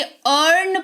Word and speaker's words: earn: एन है यहां पर तो आई के देखो तुरंत बाद ए आर है तो इसको सिंपली अर्न पढ़ेंगे अर्न नहीं पढ़ेंगे ठीक